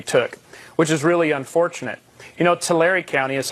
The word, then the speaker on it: Tulare: Tulare County is how it's pronounced, actually, but in Tulare County, that's fine.